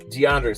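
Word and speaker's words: D'Andre: And then Andre Swift. DeAndre Swift, excuse me, is almost correct.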